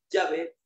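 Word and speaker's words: Yahweh: Los hebraístas han llegado al acuerdo general de que la pronunciación original debe haber sido Yahé indicado sacia con la idea de ser o existente.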